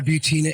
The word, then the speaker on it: Butina: Yeah, Butina, and it rhymes with subpoena.